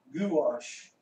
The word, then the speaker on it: gouache: Gouache, okay, thanks for letting me know how that's pronounced. Gouache.